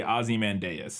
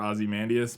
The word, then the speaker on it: Ozymandias: I still feel like we never landed on a way to pronounce Ozymandias. In the movie, at least once, they say Ozymandias. Like one of the first times he's introduced. But I feel like other times I remember Ozymandias.